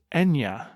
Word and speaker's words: Eithne: It's an anglicized spelling of the actual pronunciation.